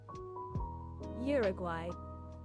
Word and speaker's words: Uruguay: How to pronounce Uruguay.